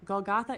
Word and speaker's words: Golgotha: Again, I don't know how to pronounce the word. Yes, Matthew. Golgtha is exactly the word and you nailed it. Goltha, meaning the place of the skull, is where Christ was crucified.